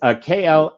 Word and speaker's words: Klaviyo: For marketing, they plugged in a tool called Klaviyo. I've never been able to pronounce that. A couple of my clients have that tool, and of course I can't pronounce it right. But it's Klaviyo, and it automated the email campaigns.